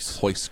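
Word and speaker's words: Royce: In Portuguese, R at the beginning of the word sounds like H. It's freaking weird. Like Hoist Gracie. I didn't know that. Yeah. Did you say Rice Krispies? Hoist Gracie.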